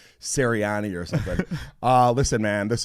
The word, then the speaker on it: Cerasani: It's Cerasani, but thank you. Cerasani. You know, you asked me earlier if I pronounced it right, and you said it right before. But everybody wants to do the I-N-I at the end. It's A-N-I.